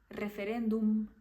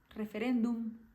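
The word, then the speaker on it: referéndum: a gente fala né já no espanhol todas as palavras que acabam com m a gente vai tentar o máximo pronunciar com a letra m fum referendum a gente vai tentar meio que finalizar com a m do jeito que é mesmo Forum referendum e as palavras que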